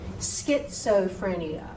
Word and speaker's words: schizophrenia: So SCH is a SK sound. So schizophrenia, schizophrenia. Z.